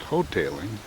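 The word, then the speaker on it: Hotaling: is whole tailing Road the reason I know it's pronounced hoteling is because I remember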